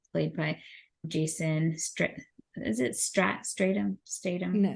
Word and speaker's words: Statham: I mean, when you look at Lyle, played by Seth Green, and Handsome Rob, played by Jason is it Statham? No, Statham. Yeah, Statham.